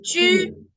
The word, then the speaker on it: 去: Chu es cuarto tono y se escribe QU.